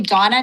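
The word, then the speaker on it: Dona: On Zoom, Dana. State your name. Oh, sorry. Sorry. Um, it's actually Donna. D O N A.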